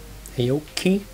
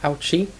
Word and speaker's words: Aoki: And by the way, now we have the canonical pronunciation of Aoki, not Aochi.